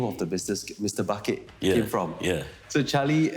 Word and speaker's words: Bucket: I forgot to mention, Charlie's surname is Bucket. Right. Yeah. Is it pronounced bucket or bouquet? Bucket. I don't know, the Europeans have different ways of saying things, yeah. True. Charlie Bouquet. Spelled bucket. Bucket's easier. Oh, you're the master, I would argue.